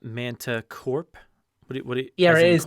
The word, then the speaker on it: Manticorp: Uh, Jurassic Unicast, is it not Manticorp?